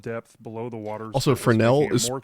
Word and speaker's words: Fresnel: Also, Fresnel is it's pronounced Fresnel when it's Fresnel.